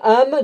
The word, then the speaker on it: Ham: Alors d'autres de la semence de Ham, de Japheth, s'en iront 400 000 hommes, et